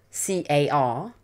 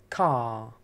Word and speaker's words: car: drop the r so we don't pronounce it and instead we lengthen the previous like vowel sound so for example the the word c-a-r we would say car car car so the